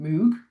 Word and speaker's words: Moog: I'm joined today by Noi teacher Martina Egan Moog. I don't know how to pronounce your name.